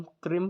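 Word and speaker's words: क्रीं: देता है, कोई क्रीम, कोई क्रिंग बोल देता है, कुछ भी बोल रहे हैं लोग। तो ओम क्रीम कालिकाय नमः, सिर्फ नमः नहीं, नमः, आगे हलंत भी लगता है 2।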